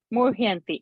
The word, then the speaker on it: muhyanti: Muhyanti. Okay. Tene brahma hridaya adikavaye muhyanti. Mu plus ha, right? First. Mu, ha, and ya.